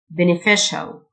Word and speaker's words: beneficial: rewarding fruitful fruitful beneficial CIA تنطق شيء beneficial غير مثمر unfruitful unfruitful